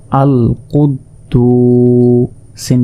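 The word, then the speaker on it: الْقُدُّوسُ: তাহলে দাল আরেকবার উচ্চারিত হবে। দাল ওয়াও পেশ দু আল কুদ্দু সিন পেশ সুল কুদ্দুসু এখানে এক আলিফ আল কুদ্দুসু এরপর দেখুন হামজা লাম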